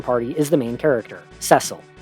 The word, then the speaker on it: Cecil: is the main character Cecil and yes that is the official pronunciation I'm sorry every other